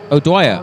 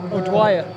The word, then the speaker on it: O'Dwyer: O'Dwyer. O'Dwyer.